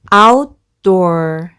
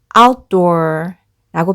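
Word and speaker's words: outdoor: t 소리가 뒤에가 붙으면서이 t 소리가 약해지고 소리가 짧아져서 마치 받침 럼 발음이 돼서 outdor outdor라고 발음하시면 더 자연스럽습니다 한번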